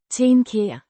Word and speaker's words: tænker: Means think, pronounced ten-ker. the E. is a sound similar to the a in cat, but more open and slightly further back in the mouth.